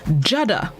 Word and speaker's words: judder: day this morning's word of the day is jada jada it's spelled j-u-d-d-e-r jada it's a verb which means